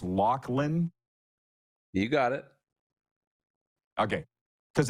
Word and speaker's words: Laughlin: Am I saying it's Laughlin? You got it. Okay. Because it's spelled Laughlin.